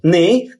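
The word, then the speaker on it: knee: দন্তান্য অর্থাৎ কে অনুচ্চারিত কে N double নি অর্থ হাটু এখানেও কে আর এন এর উচ্চারণ হছে কি দন্তান্য কে এন ডবলিউ কি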